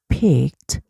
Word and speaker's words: picked: 그렇지만 외국 사람들이 발음할 때는 이치이 다 해요. 그래서 이치이 She picked a pretty rose from the garden.